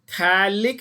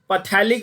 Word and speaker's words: phthalic: इट is called PHTHALIC. That is थैलिक acid. The P is silent. पथैलिक बोलते हैं कुछ गधे, मैंने देखा है. पथैलिक नहीं बोलना है, थैलिक एसिड इसका नाम है.